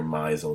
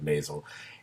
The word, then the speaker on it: Maisel: I constantly am calling her Maisel instead of Maisel.